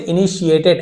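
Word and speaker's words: initiated: ती भले है लेकिन इसे इनिशिएटेड ऐसे पढ़ा जाता है।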